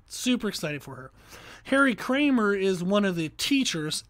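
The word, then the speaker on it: Kraemer: I'm reading through a book by Harry Kramer, and it is last name is spelled K-R-A-E-M-E-R. So Harry Kramer.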